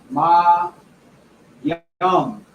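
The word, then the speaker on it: mayim: And this is pronounced Ma Yum.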